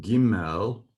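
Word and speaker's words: גימל: Gimel sounds almost like camel.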